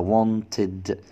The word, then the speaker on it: wanted: طب اتنطق هنا ليه بالاد كده wanted؟ لان الاي دي لما بتقع، الاي دي لما بتقع بعد الت او الد، بعد الصوتين دول لازم تتنطق كده اد.